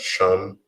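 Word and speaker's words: שם: Now for name in Hebrew is pronounced as shum, and plurally it will be pronounced as shumawaf.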